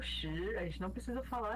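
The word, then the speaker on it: 十: Ar, shi, san. Né? Isso. Ar, que é 2. Ele é no quarto tom, no caso. Ar. Uhum. Shi, de pergunta.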